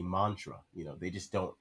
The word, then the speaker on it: mantra: era around that time mantra used to be called montora because that's how it is spelled out like when you romanize the kanji that is in japanese they have it montora but that's not what oda was going for he wanted it to be mantra you know they just